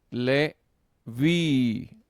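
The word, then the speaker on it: לֵוִי: Le vi, ¿verdad? Si la última sílaba tiene una boca larga, entonces llevará el acento.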